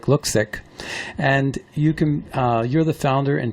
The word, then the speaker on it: Luksik: Peg Luksik, and that's spelled Luksik, but it sounds like Luksik.